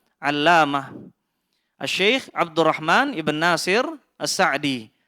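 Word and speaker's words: السعدي: Sebagian ulama, sebagian ahli ilmu ada yang membacanya As-Si'di. As-Si'di. Dan Syekh Salih Al-Utsaimin hafizahullah menjelaskan perbedaan antara keduanya, As-Si'di dan As-Sa'di. As-Si'di, pembacaan seperti ini akrab ditemukan dari ungkapan kerabat-kerabat beliau.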